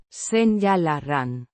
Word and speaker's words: Señalarán: Pronounced. Sen-yah-lah-rahn. With the Ñ. representing Ni. sound and the R. slightly rolled.